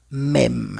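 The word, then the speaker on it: même: La segunda sería mem. M mem mem. Okay, se escucha como e y en la última sería frer.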